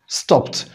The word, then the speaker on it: stopped: stopped هنا الإيدي نطقها ت ليه؟ عشان جاي بعد الـ ph sound، تبقى stopped.